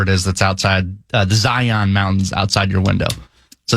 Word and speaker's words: Zion: Here, it's a little different because I'm right outside Zion National Park. And by the way, the locals have taught me it's not Zion, it's Zion.